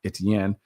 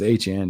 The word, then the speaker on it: Etienne: Travis Etienne, cuz he changed the pronunciation of his name. I used to call him Etienne. It's Etienne now that he's back in New Orleans.